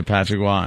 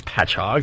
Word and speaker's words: Patchogue: Oh, does she say Patrickwa and Hapakwa? Yeah. No, she doesn't. That's funny. Because that's how it's spelled. Patrickwa? Yeah. She doesn't know it's Patchogue.